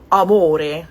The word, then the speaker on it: amore: Um, so the word amore has a stress on m and therefore if it's